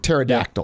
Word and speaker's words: pterodactyl: a silent P like pterodactyl. Pterodactyl is that silent P and it seems like, well, that's got to be a typo.